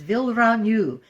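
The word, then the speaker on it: vilranyuh: of the week is villaranu the naturim word for thank you it's spelled v-i-l-r-a-n-y-u-h with a rolled R will you this week's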